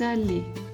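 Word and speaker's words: allées: If it's a group of women, nous sommes allés. We wouldn't change the pronunciation, sorry, but we would add an E here for the pronunciation.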